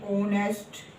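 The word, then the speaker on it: honest: है इसको horse horse इसको हम साइलेंट है तो हम ऑनेस्ट ऑनेस्ट ईयर यहां भी एच साइलेंट है इसको भी ईयर बोलेंगे ईयर देखो जैसे कि आई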